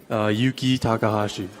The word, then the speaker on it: Yuki Takahashi: Yuki Takahashi.